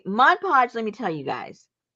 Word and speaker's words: Mod Podge: is that sticky okay no you had to say it like everybody else Modge Podge Modge Pudge okay Mod Podge let me tell you